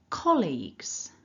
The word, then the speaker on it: colleagues: Again, stress the first part, nice and strong. Repeat after me. Colleagues. Great. So let's think more closely then about the sounds within each syllable. The first syllable, we've got that k, then a short o, and the l.